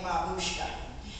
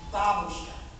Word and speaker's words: babushka: this is called a Babushka grandmother is pronounced differently though it's the same word but it's pronounced Babushka this is a Babushka I used to watch